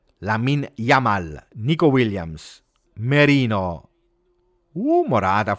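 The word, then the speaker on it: Lamine Yamal: with Colombia 31st appearance and yeah I mean Yamin lamal oh I can't say his name lamin yamal nicoo Williams Marino oh marata for niiko Williams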